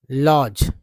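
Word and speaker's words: lodge: कठिनाई होगी ठीक है जैसे एल ओ एल ओ डी जी ई उच्चारण होता है लॉज अगर मैं पर लिख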